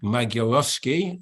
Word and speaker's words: Magierowski: Marek Magierowski, if I pronounce it correctly.